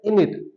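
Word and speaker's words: innit: को बोल देते हैं इनिट। हम बोलते हैं इजेंट इट, हम हर एक वर्ड को प्रेशर डालकर बोल रहे हैं, अच्छे से बोलते हैं, जबकि फॉरेन कंट्रीज में बोल रहे हैं इनिट, इनिट।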